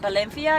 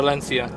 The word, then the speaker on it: Valencia: But Valencia. Yeah. Oh, and I noticed how you said it's "ba" and not Yeah, "va." so I speak a bit like the locals here.